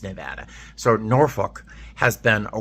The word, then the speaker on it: Nevada: It took me forever to say Nevada because I always want to say Nevada, but it's Nevada.